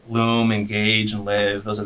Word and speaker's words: Loom: guys and they're obviously you pronounce it Loom yeah Loom okay I I was Lou I don't know no it's loom loom okay do you see